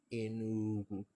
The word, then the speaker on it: Enugu: So we have to go back to the original pronunciation of the place, which is Enugu, Enugu state, right?